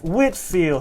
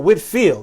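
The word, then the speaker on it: Whitefield: oh yeah we're getting close y'all George wood Whitfield his name is is spell different a couple ways okay Whitfield sometimes it's some time as white as this pronounced white is spelled white field but it still Whitfield all right George Whitfield he I believe was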